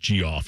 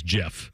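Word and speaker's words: Geoff: like in high school I thought the Geo F was pronounced g off I had no idea it was Jeff i' still pronounce a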